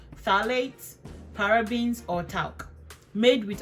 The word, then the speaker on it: phthalates: aside and push out the P is silent phthalates parabens or talk made